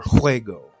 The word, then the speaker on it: juego: that differ for example the letter J is pronounced like the CH in the Scottish word Loch almost like an English K from Deep back in the throat it comes from the